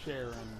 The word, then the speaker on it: Charon: While I'm fighting Charon, or Sharon for the more prickish of those out there who feel like it's important to state that his name is pronounced differently possible.